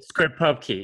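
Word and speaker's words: scriptPubKey: two a locking script or how do you pronounce that script Pub Key script Pub Key yeah and uh yeah I I can go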